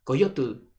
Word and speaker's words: coyotl: Él les dice, ese se llama Coyotl. Entonces, como los españoles no están acostumbrados a pronunciar la T y la L, Coyotl, entonces decían, coyote.